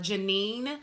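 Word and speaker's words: Jah9: She pronounces her name Janine, J-A-9.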